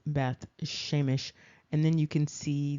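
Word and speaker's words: Beth Shemesh: known as Beth shemite that's not accurate that's not the way that's pronounced that's not even the transliteration of this and we're going to look a little bit more closely so you can see the transliteration but that's not it and here you can see very clearly that the translation is not Beth shemite it is Beth sheemish and then you can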